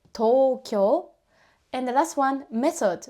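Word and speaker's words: 東京: We don't pronounce as to-u-kyo-u. We say Tokyo.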